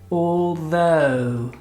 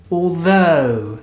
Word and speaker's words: although: kick off it's a tricky one to pronounce it is although although repeated with me come on let's spend some time let's pronounce it correctly although look at my tongue or no not Aldo the broccoli repeat it with me